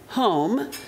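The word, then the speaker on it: holm: this the word home spelled h-o-l-m but pronounced actually home the word home means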